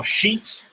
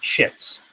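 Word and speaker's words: Sheetz: Now, Sheets, if you're not familiar, is spelled S-H-E-E-T-Z. I always say it's like bed sheets, but with a Z.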